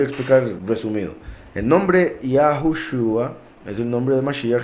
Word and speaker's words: Yahushua: En algunos casos aparece una Vav entre la Shin y la Ain, para confirmar que la pronunciación es Yahushua. Algunos dicen Yahusha, otros dicen Yahshua, otros dicen Yeshua, otros dicen Yehoshua, y lo peor, Jesús, ¿verdad?